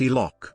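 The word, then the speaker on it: HELOC: line of credit or helic pronounced e-lock is a loan in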